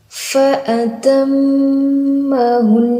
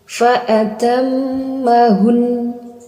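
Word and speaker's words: فأتمهن: Yaitu dengan disukunkan huruf nun, kemudian baru didengungkan. Jadi membacanya fa'atammahun. Seperti itu. Ini cara baca yang salah seperti ini. Fa'atammahun. Fa'atammahun. Nah, itu kurang tepat. Itu cuma berakhir di sukun. Harusnya berakhir di dengung Fa'atammahun. Nah, itu yang tepat.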